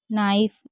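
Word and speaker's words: knife: rice लाइफ राइ वाइफ नाइफ देखिए के एन साथ में होता है तो के साइलेंट होता है इसलिए हम इसे नाइफ पढ़ रहे हैं के को नहीं पढ़ रहे पाइप राइप वाइप स्वाइप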